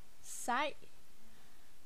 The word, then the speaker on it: sej: which is du er sej. Sej. The E in sej sounds like a Danish A.